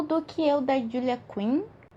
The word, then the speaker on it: Quinn: O primeiro livro que eu li no mês de fevereiro foi O Do Que Eu, da Julia Quinn. Gente, não é Queen, é outra pronúncia.